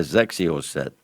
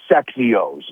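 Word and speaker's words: XXIO: Doesn't it start with an X? Exios. Perry calls them Sexios. No, Zexios. I've been trying to pay attention to Trey.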